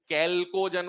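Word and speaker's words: chalcogen: अब बोलो, कैल्कोजन बोलते हैं इसको ना, चैल्को नहीं बोलते, स्पेलिंग याद कर लो भले, चैल्को से, इसका एच साइलेंट है, इसको बोलते हैं कैल्कोजन।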